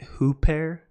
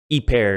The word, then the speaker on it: ὑπέρ: now if you're using a Rassman you probably pronounced it who pair who pair i don't pronounce it that way each pair is how i pronounce it in the genitive